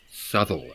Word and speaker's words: Southwell: Nottingham but several miles to the east at southwell or Soule as I'm told it is pronounced it is one of the least visited